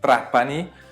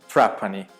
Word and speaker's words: Trapani: Então, R mocha também tem o Retroflexo na Sicília. Então, por exemplo, tem uma província, né, uma província na Silha que é Trapani. Eh, um silhão talvez falasse Trapani.